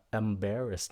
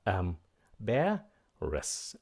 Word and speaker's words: embarrassed: Các bạn phát âm nó là embarrassed nha, đừng có embarrass, nó là embarrassed. Nhấn âm thứ hai, embarrassed.